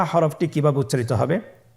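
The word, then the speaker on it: ح: হা হরফটি কিভাবে উচ্চারিত হবে? হা হরফটি উচ্চারিত হবে কণ্ঠনালীর মধ্যখান হতে।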